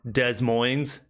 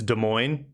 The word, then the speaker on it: Des Moines: It's like people in the Midwest or people who outside the Midwest call the capital of Iowa Des Moines when it's Des Moines.